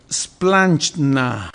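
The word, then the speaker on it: σπλάγχνα: Entrañable es más fácil la pronunciación, es splanchna. Ay, parece así como plancha, pero así medio ruso, ¿verdad? Medio polaco.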